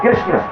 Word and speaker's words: कृष्ण: हां कृष्ण, कृष्ण तो बहुत टेढ़ा है। बहुत कठिन है पढ़े लिखे लोग बोल सकते हैं अनपढ़ तो इसका उच्चारण भी नहीं कर पाते और होता भी है। कृष्ण की जगह लोग कृष्ण कहते है। कृष्णपुर होगा तो किशनपुर कहेंगे ।